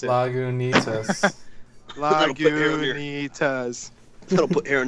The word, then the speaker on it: Lagunitas: I read right there on the bottom, and it tells you how to pronounce it. Lagunitas.